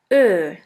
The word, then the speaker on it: Ö: The second umlaut is Ö, or O umlaut. Ö is pronounced like the word flirt or the word girl.